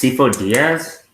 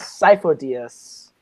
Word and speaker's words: Sifo-Dyas: Is this Sifo Diaz? Diaz? Case? Sifo Diaz? It's not the correct pronunciation because it's Sifo DS. It is Sifo-Dyas.